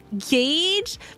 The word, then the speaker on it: gauge: The U is mute. Then why is there a U? If it's mute, why is there one? What? And so, hold up. So like it's pronounced if okay. So if you take the U out and you do G A G E it would be gauge. But if you say G A G is gag.